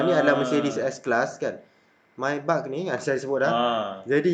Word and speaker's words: Maybach: Maybach kau. Mungkin ada orang tersilap sebut Maybank pun ada ni.